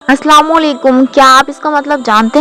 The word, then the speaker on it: अस्सलामु अलैकुम: तो सलाम का मीनिंग है, पहले तो हम प्रोनाउंसिएशन गलत करते हैं, अस्सलामु अलैकुम। अस्सलामु अलैकुम, अस्सलामु का मीनिंग होता है सलामती हो।